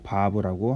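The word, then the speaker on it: וו: 6번째 이 단어는 자음은 바브라고 합니다.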